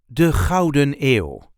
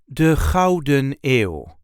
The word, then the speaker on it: de Gouden Eeuw: This is how we say de Gouden Eeuw. De Gouden Eeuw. There isn't really an emphasis on any of these words, just de Gouden Eeuw. De Gouden Eeuw.